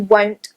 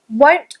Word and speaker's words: won't: Won't often gets confused with want. Won't, don't, want, font. The difference is a long O, won't, and a short, want.